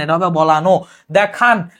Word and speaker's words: দেখানো: দেখান, এটা কিন্তু হসন্ত হবে না, এটা হবে দেখানো।